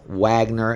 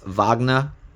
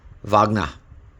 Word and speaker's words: Wagner: don't pronounce it as Wagner. It's Wagner, double V. Yes, double V, not a double U. It's pronounced with a V. Wagner.